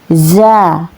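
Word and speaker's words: زَ: Bedakan dengan ini namanya huruf za. Za ya, diharokati fathah dibaca a, za. Ini cara bacanya ja. Kemudian ini za, nggak sama ya teman-teman, hurufnya beda, cara pengeluaran hurufnya juga beda melafalkannya ya. Ja, za, ja, za.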